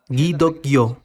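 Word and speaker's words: 기독교: y luego en Corea en Corea el cristianismo se pronuncia guido kyo en los primeros días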